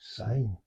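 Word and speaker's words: syne: I S sign it a lot of people pronounce it as if it's got a zed on it it's become but it's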